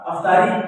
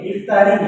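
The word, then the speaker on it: اِفطاری: لو، افطاری بنا لو۔ صحیح معنوں میں جو درست تلفظ ہے اس کا افطاری نہیں ہے، افطاری ہے، الف کے نیچے زیر ہے۔ شکر کہتے ہیں لوگ،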